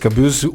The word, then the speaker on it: Caboose: it depends it's uh it's just kabuz usually it's it's uh it's a German word actually uh the kabuza uh